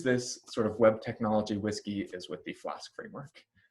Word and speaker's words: WSGI: standard framework wsgi but you don't pronounce it wsgi you pronounce it whiskey and this is something